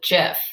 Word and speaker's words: GIF: of jiffy calls it jeff okay i've heard it with a hard g as well so we'll say they're